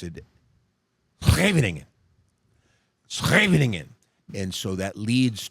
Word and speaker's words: Scheveningen: If you and I looked at it written, you would phonetically pronounce it Scheveningen. Okay, if you were a Dutch person, you would pronounce it Scheveningen.